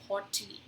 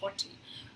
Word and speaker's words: haughty: सो इस वर्ड की प्रोनाउंसिएशन होती है हॉटी, ठीक है, इसको प्रोनाउंस करते हो हॉटी।